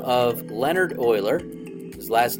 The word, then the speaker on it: Euler: the name of Leonard Euler his last name looks like Euler but it's pronounced Euler okay now he was